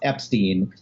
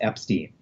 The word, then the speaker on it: Epstein: It says, Brian made clear that he preferred Ep-steen rhyme with teen, not with fine.